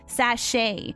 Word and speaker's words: sachet: good or sorry sachets they're called sachets apparently yeah that's a proper pronunciation we have to be big girls leaf we have to say sashay and put our pinky